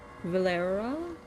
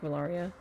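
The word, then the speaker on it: Valeera: Valera, not like Valaria.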